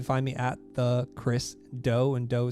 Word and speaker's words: Do: me at the chris doe and dough spelled d o it's pronounced or it sounds like cookie dough but it's just about